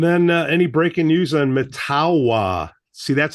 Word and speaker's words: Mettawa: Beth yeah and then any breaking news on matawa see that's how you say it yes Cube